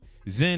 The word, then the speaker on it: XEN: Pronounced Sin with an X. Zen World.